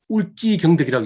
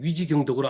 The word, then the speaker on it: 위지경덕: 한번 동영상을 한번 보시겠습니다요 위치 경덕이라고 울지 경덕이라고 읽기도 하는데 어쨌거나 지금까지 위지경덕으로 알려져 있습니다 조금 무식한 자인데 공을